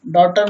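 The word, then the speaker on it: daughter: जी एच एक साथ आए और वॉवल के बाद आए तो जी एच हमेशा साइलेंट रहता है। जैसे डॉटर मीन्स पुत्री, थॉट मीन्स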